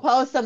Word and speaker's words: Postum: And Postum is how it's pronounced.